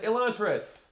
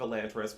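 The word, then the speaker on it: Elantris: related books and uh this book has no consistency in which companies pronounce the name which way so I'm saying elant because the 10th anniversary audio book which is the one that I own uh pronounced it elant however some later stories like the hope of elantas pronounced it elantas and it's it's kind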